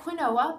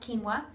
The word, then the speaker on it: quinoa: quinoa this is the stuff it looks like quinoa but it's pronounced quinoa what it is is it's a grain that's